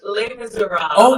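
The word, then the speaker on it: Les Misérables: It's pronounced Les Miserables. Okay. But the official French pronunciation is much more French and much more official.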